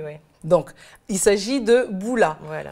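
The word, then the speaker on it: bula: Donc, il s'agit de boula. Voilà. Moi, j'aurais prononcé avec le M, mais apparemment, on ne prononce pas le M.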